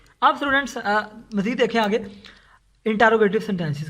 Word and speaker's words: interrogative: अब स्टूडेंट्स मज़ीद देखें आगे इंटरोगेटिव सेंटेंसेस के बारे में। इंटरोगेटिव स्टूडेंट्स इंटरोगेटिव जो है वो रॉन्ग प्रोनाउंसिएशन है, इसको आपने पढ़ना है इंट्रोगेटिव सेंटेंसेस।